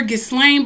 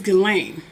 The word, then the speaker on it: Ghislaine: about epstein elaine although i called her get slain but her name is galen i guess the s is silent anyway far as i